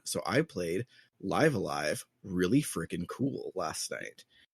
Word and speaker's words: Live A Live: I always pronounce it Live Alive. So It's Live Alive. it's Live Alive? Okay. It has if you look at the katakana above it. katakana, it's Live Alive.